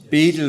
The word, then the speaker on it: Bedell: Uh Bishop William I always say Bedell I but Beedle is probably the correct pronunciation but um anyway I'm such a habit now saying Bedell.